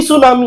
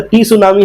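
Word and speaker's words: tsunami: तो हम बोले भैया तो टी सुनामी है, तुम क्या बोल रहे हैं सुनामी सुनामी, बोलता टी सुनामी है। तो बोलता है नहीं नहीं भक्तू, इसमें टी साइलेंट होता है, टी को पढ़ा नहीं जाता।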